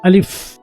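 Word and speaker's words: ألف: খেয়াল করো আমি কিভাবে উচ্চারণ করব। আলিফ হচ্ছে আলিফ, আলিফ, আলিফ, আলিফ।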